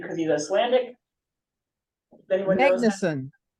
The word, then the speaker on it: Magnason: name because he's Icelandic Magnuson Magnuson okay emphasize the first syllable in Icelandic this dad's first name